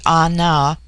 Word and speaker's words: Ana: The word Ana, pronounced broadly Ana, corresponds with our plural men.